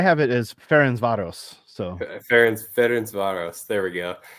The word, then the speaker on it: Ferencváros: Is that how this team is pronounced? You're close. I have it as Ferencváros. So Ferencváros.